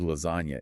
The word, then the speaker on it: lasagna: The letter G in the word lasagna is silent.